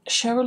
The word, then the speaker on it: Cheryl: So, Cheryl is pronounced SH but spelled with a C.